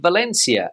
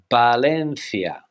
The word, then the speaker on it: Valencia: in Spanish sag now the popular city of Valencia as we would say in English but in Spanish how would they pronounce it balena balencia Valena now this city is in